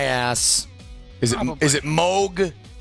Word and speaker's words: Moog: right up my ass is it is it Moog smoke Moog thank God uh when they first got their